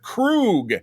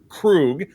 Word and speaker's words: Krug: is Kurt Krug and he's very specific uh in the pronunciation of his last name and he said Remember the klling on from Star Trek 3 who was played by Christopher Lloyd was commander Krug that's our friend Kurt